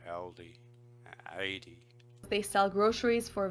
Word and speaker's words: Aldi: So she's almost pronouncing that with a Y, like 80 instead of Aldi.